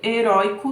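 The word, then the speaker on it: heroico: Já em heróico, não. Em heróico nós temos o ditongo oi também, só que não é uma oxítona, é uma paroxítona.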